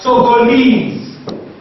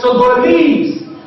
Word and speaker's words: Togolese: Then we have Togolese, Togolese, the last syllable is what is lease, that is what is stressed.